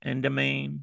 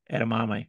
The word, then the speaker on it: edamame: Uh, Carrots, that word I can't pronounce, endamine. What is it? You know how to pronounce it. The little Edamame? and mame, Ed- yeah, yeah, Edamame? edamame, yeah, We're not moving on until you say it right, Mike. Edamame.